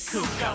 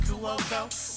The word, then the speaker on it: Cuoco: Big bang booty, that's Kaylee Cuoco. Oh shit, my bad, it's pronounced Cuoco.